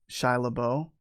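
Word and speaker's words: Shia LaBeouf: story is about um shia labeau i think that's how you pronounce his name his life and about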